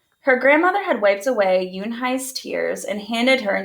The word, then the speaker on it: Unhei: "Une?" the girl asked, scrunching her face. Uni," some kids chanted. "No, Yoon-hai," she spelled. It's Unhei. It's pronounced Yoon-hai.